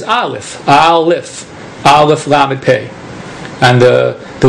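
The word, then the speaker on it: אלף: In Hebrew the letter olif is when you when you sound it out is alf.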